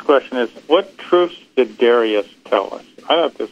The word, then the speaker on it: Darius: How do you say Darius? It's Darius.